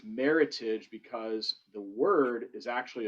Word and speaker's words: Meritage: winner was meritage and the reason why it's pronounced meritage and not meritage which is a common misconception we oh the